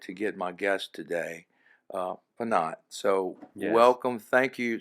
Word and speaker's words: Phanat: It is, and so I was really excited to get my guest today, Phanat. So Yes. welcome, thank you so much. Am I pronouncing it right? Phanat is correct.